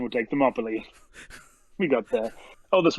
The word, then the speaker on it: Thermopylae: Thermopyles. Yeah, that's the pronunciation we'll take. Thermopylae.